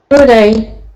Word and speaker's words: today: Today, Today. Okay, so the stress is on the second syllable.